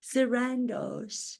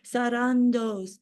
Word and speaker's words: Sarandos: and see my authenticity does anybody else pronounce your last name sarandos I don't believe so I think they pronounce it Sandos I pronounce it the way it's meant to be pronounced authentically sarandos as it spelled phonetically that's what I have